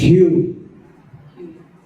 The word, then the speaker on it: Hugh: My name is Hugh.